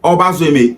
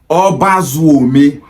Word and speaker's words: Obazuome: You will be surprised to know that that name that they called Obazueme is originally pronounced as Obazuome.